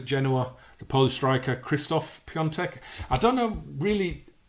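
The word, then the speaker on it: Piątek: the Polish striker Christoph peon tech I don't know really all pundits that specialize in it they all say they open a CP on tech but it's spelled peer tech so I don't know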